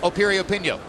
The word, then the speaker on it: Piriyapinyo: Once again, the name begins with a P, but it's pronounced Piriyapinyo.